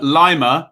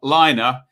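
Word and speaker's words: Laimer: do hey so baumgartner lima who's not liner and schlager in midfield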